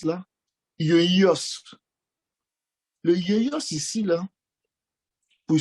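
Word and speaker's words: υἱός: Celui-là, c'est traduit par le thème, je ne sais pas comment on le prononce là, yoios.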